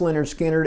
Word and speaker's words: Lynyrd Skynyrd: Between recording pronounced Leonard Skannard and Second Helping, the band had gone on tour in support of the Who.